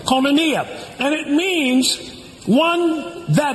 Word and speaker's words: koinonia: The word communion in the Greek is koinonia, spelled with a K. Koinonia.